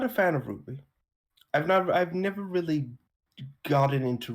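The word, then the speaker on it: RWBY: Ruby.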